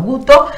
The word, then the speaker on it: Guto: Ahí tenemos, entonces, ¿cómo se pronuncia el nombre? Guto, así como, sí, como está escrito. Guto.